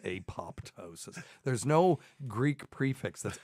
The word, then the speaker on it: apoptosis: a word that means programmed cell death it's a p o p t o s i s we talked about this on the show before